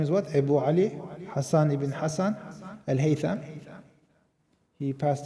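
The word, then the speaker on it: Hasan: In the West, he is known as Hazen because of a mispronunciation of Hassan, because his name was Hassan ibn Hassan.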